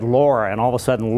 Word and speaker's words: Laura: And she said, Laura. And all of a sudden, Laura, L-A-U-R-A, and it could be pronounced L-O-R-A or whatever, but that name had resonated through my young childhood with other very kind, nurturing women.